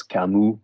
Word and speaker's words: Camus: It's with an S, but you don't pronounce the S. Camus.